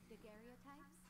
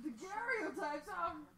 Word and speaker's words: daguerreotype: Daguerreotypes? I think it's just pronounced daguerreotypes, but oh well. It is just pronounced daguerreotypes. I've never heard daguerreotypes. Whatever. It's written by a Frenchman. Maybe he knows how to pronounce it correctly and we don't.